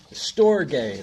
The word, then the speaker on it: storge: And then the third is storge. That's how you pronounce it. It's spelt like storage without the A.